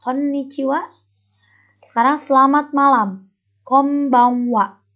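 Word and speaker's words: こんばんは: Konbanwa. Itu N-nya dibaca M. Konbanwa.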